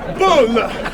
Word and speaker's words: Bulle: which is ironic because the way he spells his name is a Swedish word for a roll or bun. It's pronounced Bulle.